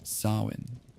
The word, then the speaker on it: Samhain: The ancient Celts marked the turning of the year with a festival called Samhain, pronounced Samhain.